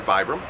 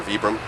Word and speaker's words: Vibram: The soles are made by Vibram, okay, or Vibram, pronounce it totally different depending on where you're from.